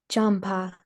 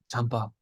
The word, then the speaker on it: Jampa: Yeah, a little bit lower jam because it's there's nothing on the top, So it literally is just this jam.